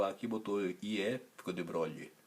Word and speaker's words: de Broglie: Aí ele afrancesou o nome dele, terminou o A aqui, botou IE, ficou de Broglie. Então por isso que a pronúncia é diferente da pronúncia normal do francês.